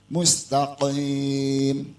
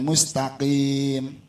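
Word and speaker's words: مستقيم: kita benar ihdinatal mustaqim di akhir itu bukan Kaf tapi Q kalau kop dan Kaf kalau kop bacanya agak di dalam nih pak tenggorokan mustaqim bukan mustaqim nah artinya gini kalau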